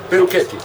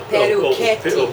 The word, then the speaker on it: Perucchetti: In Italian, we don't have K. We don't use K.